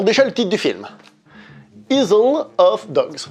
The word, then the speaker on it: Isle of Dogs: Isle of Dogs. Je fais exprès de prononcer comme ça, c'est I love dogs.